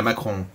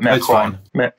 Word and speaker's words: Macron: How do you pronounce his name right? Emmanuel Macron is what we call him. Yeah, Macron. So I'm probably going to butcher this, but Macron.